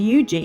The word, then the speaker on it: Huger: Fort Huger, also pronounced Eugi, is an earthen fortification on the northern edge of Burl Bay.